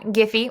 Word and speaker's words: Giphy: So now we've got Giphy or Jiffy, depending on how you pronounce it, for Chrome.